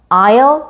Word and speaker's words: aisle: 먼저 창가 쪽 자리는 window seat, 그리고 통로 쪽 자리는 aisle seat, aisle 요 단어에서 자음 S는 발음이 되지 않습니다.